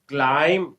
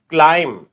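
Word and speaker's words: climb: एल आई एम B this is क्लाइम क्लाइम क्लाइम माने चढ़ना क्लाइम तो इसमें बी साइलेंट है क्लाइम इसमें बी नहीं आएगा राइट तो दिस इज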